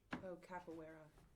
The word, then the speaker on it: capoeira: capoeira. Capoeira, is that how it's pronounced?